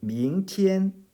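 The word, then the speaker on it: 明天: 역시 이제 이 운모도 이안이 아니라 이엔하고 발음한다는 것 유의 하셨으면 해요. 저 밍티엔 그리고 지엔.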